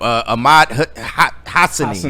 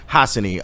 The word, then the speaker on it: Hassanein: Ahmad Hassanein. There it is. Hassanein.